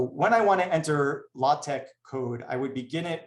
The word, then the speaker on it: LaTeX: So next, I just want to mention something about LaTeX.